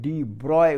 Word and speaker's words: de Broglie: Atom और दूसरा है डी ब्रॉगलीज एक्सप्लेनेशन। तो डी ब्रॉगली बोलिए या डी ब्रॉय, एक्चुअली बुक में लिखा है डी ब्रॉय उसका प्रोनाउंसिएशन, तो ठीक है जो बोलिए।